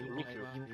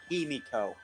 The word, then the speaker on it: Himiko: You're pronouncing it wrong. Oh. It's my damn stutter. It's what? Queen Himiko. Or Himiko. My stutter is ruining it. Just pronounce it like it's HEMMEKO.